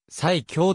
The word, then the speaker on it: 埼京: いうエピソードがあるなお最強という読み方は湯桶読みである埼京線は乗車